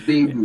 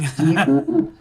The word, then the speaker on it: Baidoo: The white pronounce it Baidoo. But it's Baidoo. It's just an American thing. Baidoo.